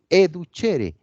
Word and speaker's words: educere: Educere se escribe, pero se pronuncia educere, alimento, alimentar.